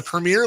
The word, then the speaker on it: Premier: should know better whatever it's not the Premier League there's no e at the end it's Premier uh if I go